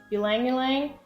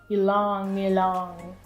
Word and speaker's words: ylang-ylang: Fun fact, Katie and I used to pronounce this oil Ylang-Ylang, and then we looked it up and the lady pronounced it Ylang-Ylang.